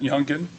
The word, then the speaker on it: Yungeen Ace: Now, the rap video "Do It" that was done by Yungeen Ace, is that how he pronounces it, Yungeen? Yes, sir.